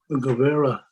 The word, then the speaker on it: Guevara: uh i can't pronounce his name too well go go vera junior rudy governor junior this is really interesting i i found it uh guevara yeah yeah i thought rudy gubera yeah uh christy i had a question for